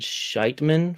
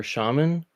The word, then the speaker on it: shaman: She said Scheitman for shaman.